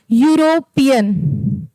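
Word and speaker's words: European: जब हम इसका प्रोनाउंसिएशन कर रहे हैं तो यूरोपियन ऐसे कर रहे हैं। ठीक है? यूरोपियन। तो यहां पर क्या हो जाएगा? यहां पर देखिए य है तो वह क्या है? व्यंजन वर्ण है। और यूरोपियन भी जब हम लिख रहे हैं इंग्लिश में भी तो क्या हो रहा है? वाई यू आ रहा है ना कि इ आ रहा है। ठीक है? वाई यू से हम उच्चारण कर रहे हैं इसका तो यहां पे क्या लगेगा?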